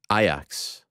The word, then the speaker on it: Ajax: of cool ones um I believe it's iax for the record I will not be adjusting my pronunciation Ajax is like I think